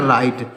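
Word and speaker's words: write: जाएगा आइट हो जाएगा राइट यानी यह डब्लू साइलेंट है आर से हो जाएगा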